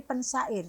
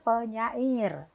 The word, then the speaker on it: pensyair: penyair atau pensyair Iya kalau dari kata dasarnya kan syair Sir kalau itu dilekati imbuhan kan seharusnya tetap menjadi pensyair tapi kan masyarakat umum mengetahuinya penyair karena itu balik lagi ke pengucapan itu ya s s itu tidak boleh karena ini syair ya SY itu tidak boleh luluh karena itu kluster kluster ya kluster jadi